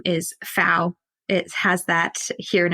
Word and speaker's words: Pfau: Fau is a German. I have German roots. It's actually oddly spelt with a P though, Pfau.